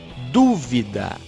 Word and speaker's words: dúvida: Dúvida é uma proparoxítona.